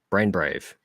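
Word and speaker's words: BRAIN×BRAVE: with a One-Shot titled brain X Brave or break brain Brave I guess because you know they don't pronounce the X um it's yeah so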